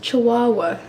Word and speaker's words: Chihuahua: one but I wrote It's pronounced Chihuahua not Chihuahua which my roommate mercilessly